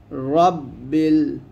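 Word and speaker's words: رَبِّ: র মোটা করে রাব্বিল রাব্বিল রব্বিল এখানে আমরা অনেকে রাব্বিল বলি এই ভুলটা করবেন না এগুলো মারাত্মক ভুল তো বলতে হবে র মোটা করে বলতে হবে রব্বিল আইনটা একটু চাপ দিবেন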